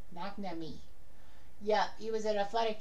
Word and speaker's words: McNamee: And I think I pronounced his name correctly. Perfectly. McNamee.